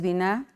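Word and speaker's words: בינה: La palabra prudencia viene del original hebreo, bina, así es, se pronuncia bina con esta palabra prudencia, es biná en hebreo y significa entendimiento, significa cordura, significa inteligencia, significa sabiduría.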